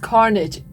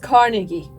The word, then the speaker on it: Carnegie Medal: We thought it's pronounced Carnage. Sorry. No, what a bloody surprise! But it is actually pronounced Carnegie.